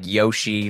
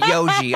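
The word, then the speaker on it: Yohji: how to pronounce it it's like Yoshi from oh Yoji oh yeah yeah that's what it is I just wear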